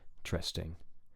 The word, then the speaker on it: interesting: pitch is high on the stress syllable in and then drops quickly for the other two interesting interesting and that's the